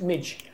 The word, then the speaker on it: MJ: Actually, MJ, obviously, you know, that's not, people think that's the initials. It's actually his name. It's pronounced Midge.